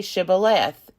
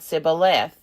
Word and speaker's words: Shibboleth: When he said no, they said to him, Then say Shibboleth. And he said Sibboleth, for he could not pronounce it right.